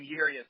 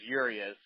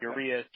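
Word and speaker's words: Urías: spent at that level we called him yurius then I guess uh I've heard like 17 different pronunciations at this point but back when he was with us it it was urious uh not uist or any of these other things but uh he was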